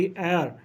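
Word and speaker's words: heir: will make him माय एयर उसे मैं अपना उत्तराधिकारी बनाऊंगा इसमें एच साइलेंट होती है उत्तराधिकारी एंड ही शैल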